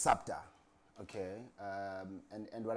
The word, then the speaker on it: SUPTA: it and obviously because the more you hear super you think it's super but the more you hear the right way of of pronouncing the name which is sapta uh the more people will get to you